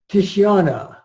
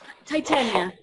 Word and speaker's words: Titania: We're going to move on here if we can now to Titiana. Did I say it right? Titiana? Titania. Yeah, hi.